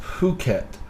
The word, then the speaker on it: Phuket: being effing flat Bombay Phuket is pronounced Phuket believe it or not